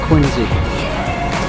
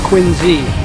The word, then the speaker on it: Quincy: Oh no, Josiah Quincy. And it's Quincy, not Quincy. That's how locals say it.